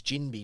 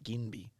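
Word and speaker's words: Ginbey: They're all in that same space, and it's Jinby, not Ginby, as well, which is way harder to say.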